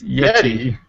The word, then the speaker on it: Yetee: It's Yeti. Okay. It's like Yeti, Yeti, like the creature.